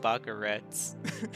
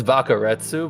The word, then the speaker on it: Bakaretsu: I don't know if you pronounce the Sioux or if it's just Bakaretz. It's Bakaretsu, but honestly, I've had people call me so many different things from Baka to Retsu.